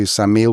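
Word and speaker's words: Ksamil: Yeah, maybe maybe 3 weeks or four weeks because we went to Samile. We drove through from Greece and we came up to Samile first, which is spelled K S A M I L.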